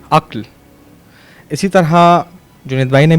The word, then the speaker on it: عقل: سے بہت سارے لوگ عقل کہہ رہے تھے، جبکہ صحیح لفظ ہے عقل۔ اسی طرح جنید بھائی